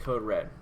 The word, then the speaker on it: CODE: REaD: code and Code Red it's spelled code read but it's pronounced Code Red boom playlist so we're